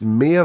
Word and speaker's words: Meyer: So you talked about Danny, it's Mayer or Meyer, how do you say it? Mayer.